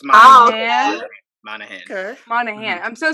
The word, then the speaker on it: Monaghan: Monaghan. Is that how you pronounce his last name? Monahan. I think it's Monahan.